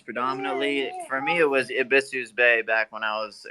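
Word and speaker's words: Ebisu's: Abisus, no one can still say Abisus. It's like, what the fuck's all that about? Still to this day, yes, that is true because it's pronounced Ibisus.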